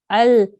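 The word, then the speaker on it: الجليل: So you have to pronounce each of them really clearly.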